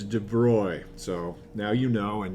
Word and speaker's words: de Broglie: and then in 1923 a french physicist named de broy i didn't know that that's how you pronounced it i think you asked most general kim students and they're like yeah it's the de broglie something or other and actually i guess in